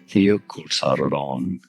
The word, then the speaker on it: Jökulsárlón: Okay, so the first one really is good some Icelandic pronunciation. Jökulsárlón.